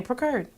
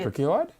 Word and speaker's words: procured: Precurred. Try one more time. Precurred. Okay, I'll let you have that. Is that not how you pronounce it? How you say? Procured.